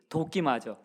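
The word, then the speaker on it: δοκιμάζω: 그 우리말 성경에서 분별하도록 하라라고 하는 것은 원래 헬라어 성경에 나오는 단어로는 도키마조라는 단어예요. 헬라어는 어려우니까 그냥 여러분 발음대로 한번 기억해 보세요. 뭘 맞아요? 도끼마조. 도끼마조인데 도끼마조 생각해. 도끼를 탁 맞으면 어떻게 될까요? 결판이 나겠죠.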